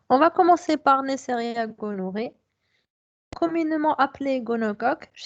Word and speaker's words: gonorrhoeae: Alors, vous voyez comment ça s'écrit gonorrhoeae, mais comme vous le dites, c'est Neisseria gonorrhoeae et Neisseria meningitidis.